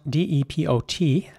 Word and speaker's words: depot: it gets interesting because in British English this would be pronounced Depo not by everyone but some people in the UK will pronounce this Depot meaning the e at the beginning is pronounced like a e sound Depot and the T at the end is silent so it's not Depot and in American